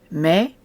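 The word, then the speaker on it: méh: you'll find lots of these as a fly May B what's interesting about May is that the H does is not pronounced unless there's something after it so may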